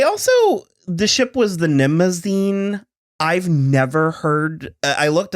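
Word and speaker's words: Mnemosyne: would happen they also the ship was the nimazine i've never heard i looked it up and that's apparently how it's pronounced i've always known it it's the greek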